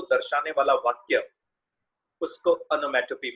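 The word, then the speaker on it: onomatopoeia: बहुत जन इसको बुरा मत मानिएगा, ओनोमोटोपोइया, ओनोमोटोपोइए, कुछ अलग अलग प्रकार के प्रोनाउंसिएशंस करते हैं। इट is actually pronounced as और pronounced in अ way which should be appropriate. ओनोमैटोपी, ओ ई आई ए, अंत में लगभग साइलेंट रहता है।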